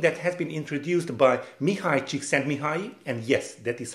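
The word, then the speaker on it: Mihály Csíkszentmihályi: that is something that has been introduced by mihai chiksen mihai and yes that is how it is pronounced well actually in Hungarian it's the other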